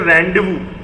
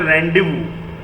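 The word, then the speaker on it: rendezvous: इसे कहते हैं रेंडेवू। इसकी स्पेलिंग थोड़ी अजीब है, रेंडेजवुअस। इसको हम लोग प्रोनाउंस करते हैं रेंडेवू।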